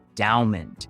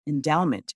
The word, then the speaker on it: Endaoment: I'm not pronouncing it right. I feel like you really have to put emphasis on the Dow.